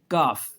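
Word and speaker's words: calf: फिर अगर एल के साथ एफ आ जाए तो एल साइलेंट है। देखें हाफ, ये भी मैंने पीछे भी एफ में कर दिया था, काफ।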